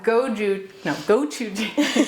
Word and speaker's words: gochujang: The gochujang paste.